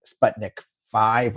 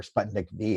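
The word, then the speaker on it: Sputnik V: has this catchy name Sputnik 5 or Sputnik B actually I've heard it pronounced both ways and it's been very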